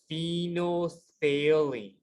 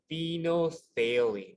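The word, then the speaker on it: phenolphthalein: chemical here is called phenothalene so the ph sounds like a f at the very beginning so phenothalene and so if we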